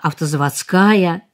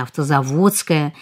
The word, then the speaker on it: автозаводская: Может, ничего страшного нет в том, если мы произносим «ты мне позвонишь» вместо правильного произношения «позвонишь», «улица автозаводская» вместо правильного произношения «автозаводская», ну и так далее.